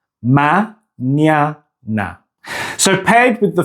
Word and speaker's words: mañana: The second syllable has the ny sound. Ma-nya-na. Ma-nya-na.